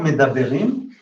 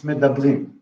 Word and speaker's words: medabrim: So medaber is not medaberim, it's medabrim.